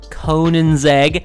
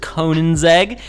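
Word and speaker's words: Koenigsegg: the 2008 conan's egg conan's egg i said it correctly if you guys watched my other best cars video that was just like a general for trying to get through your campaign races i said it wrong so there you go everyone the debate can be settled now it is conan's egg anyway the ccgt is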